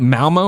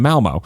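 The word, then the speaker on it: Malmö: Malmo, is that how you say it? Malmo, yeah, that's right.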